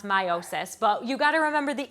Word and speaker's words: meiosis: always pronounce it like i like really enunciate the e um it should be pronounced meiosis but you gotta remember